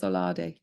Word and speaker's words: OLADE: How do you pronounce OLADE?